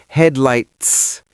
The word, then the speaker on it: headlights: It's a stop T. I don't say headlight. T. I say headlights.